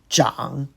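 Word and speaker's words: 長: The first one can be also pronounced zang, grow, but as chang it means long.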